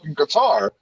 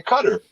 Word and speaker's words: Qatar: __ ] qatar and then the last two years people have been pronouncing the cutter because that's how they pronounce it over there i guess all right apparently nobody came back to correct us until now yeah the a sounds like an e for them not cutter that's what uh american